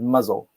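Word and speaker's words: Mousehole: is mouse hall right the locals don't like to pronounce that they pronounce it muzzle but about 10 miles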